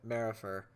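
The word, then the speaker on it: Maripher: And going back, we haven't even talked about really the character of Pax Marifer. That's how you pronounce his last name.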